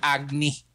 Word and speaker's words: Agni: Yeah, it's Agni. But it's spelled as Agni.